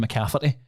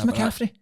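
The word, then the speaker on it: McCaffrey: I've I've always just thought it was Christian McCaffy. And I actually looked at I was like, that is Macaffrey.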